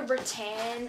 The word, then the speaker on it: rattan: They also had like a rattan. I don't know if that's how you say it. Rattan. It's not, it's definitely not rotten, surely not, because that sounds so bogan.